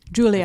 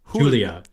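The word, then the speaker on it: Giulia: Julia Julia it's spell it's like it's spelled g i u l i a like Julia Julia Julia but with a silent G let's pull up the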